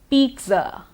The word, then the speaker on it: pizza: Pizza, pizza. Now here we actually pronounce it as peat, the T, peat and then Z.